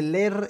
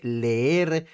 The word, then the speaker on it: leer: lo dejó prácticamente exhibido no se dice ler se dice leer Ahí está pues el